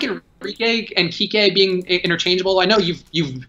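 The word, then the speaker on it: Kiké: You do not read that as Kike if you're just reading it in general. If I gave that to my dad, he's not Kike Hernandez. I'm positive of it. He should know that there's an accent on the E, and that's what makes it different.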